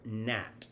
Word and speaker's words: Na'at: uh of this year 2022 and it's entitled nat uh it's spelt n a apostrophe a t or n